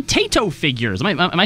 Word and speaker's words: Taito: But also one of 3 Taito figures. Am I saying that right? Taito? It's pronounced Tieto.